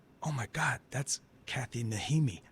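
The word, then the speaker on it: Najimy: And I was like, oh my God, that's Kathy Nijimy. I thought the J was like Hickam.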